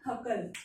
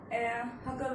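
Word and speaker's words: Hückel: लेकिन एक famous scientist है हकल, जिनको बहुत बच्चे हुकल बोलते हैं, बट इसका प्रॉपर या मैं यूं कहूं कि एक सही प्रोनाउंसिएशन इसका जो है वो है हकल।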